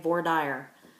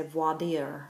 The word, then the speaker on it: voir dire: I've heard it pronounced many ways. I'm from Ohio, so I say voir dire. But if you're from France, you'd probably say voir dire or something more fancy.